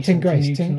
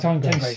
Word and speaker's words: Teigngrace: Oh, Tain Grace. Tain Grace. Yeah. Tain Grace. As in Tinmouth. It's called Tinmouth.